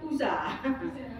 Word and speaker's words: Uza: Yang satunya Uza, pakai Z. Uza.